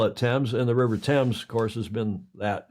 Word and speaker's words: Thames: One of your kings came along who had a lisp and couldn't pronounce the TH, so he called it